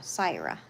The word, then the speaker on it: Sira: So, not Sarah, Syra. Is that correct?